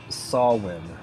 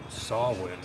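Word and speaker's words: Samhain: it's the Celtic word for Halloween and you pronounce it sawin sawin but it's s a m h a i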